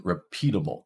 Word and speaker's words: repeatable: Well, this is in repeatable, the second one. It's repeatable. And finally, stuffing. Stuff. So stuffing, our first syllable has that primary stress.